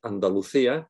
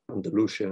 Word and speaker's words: Andalucía: Her character Sofia pronounces Andalucía, where part of the action takes place, in perfect Spanish, whereas her father, played by Jeremy Irons, doesn't even bother, says Andalusia or something.